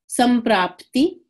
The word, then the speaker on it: Samprapti: make it a NK, kind of when we pronounce it. So Sankhya. Samprapti, Samprapti.